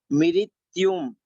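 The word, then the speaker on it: मृत्युम्: और मृत्युम, मिरी, इसमें मिरी का उच्चारण होगा मिरी, मृत्युम, मृत्युम यानी कि मृत्यु को।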